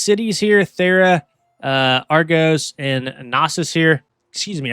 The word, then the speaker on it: Knossos: These cities here, Thera, Argos, and Knossos here, excuse me, I think it's actually pronounced Gnosis.